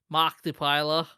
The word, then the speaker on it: Markiplier: Markiplier.